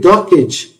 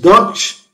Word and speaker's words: Dockge: Many people call it Dockage. It is also acceptable. The name idea came from a twitch of emotives such as Sage, Veg, Workage. They all end in GE. So let's pronounce this as Dockge, giving it a Brazilian twist.